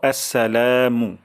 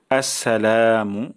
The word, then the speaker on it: আসসালামু: উচ্চারণ চলে আসে তাহলে প্রথম উচ্চারণটা হলো আসসা আসসা তারপর লাতে এক আলিফ টান দিব আসসালামু আসসালামু অর্থ শান্তি বর্ষণ হোক